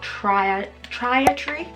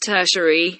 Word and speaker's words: tertiary: But then you also have your secondary colours in your trietary colours. I'm pretty sure that's how you say it. Trietary. It's tertiary.